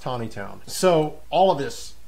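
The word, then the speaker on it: Taneytown: Town here it's not Tanny town for those of you watching from out of town here it is pronounced Tiny Town so all of this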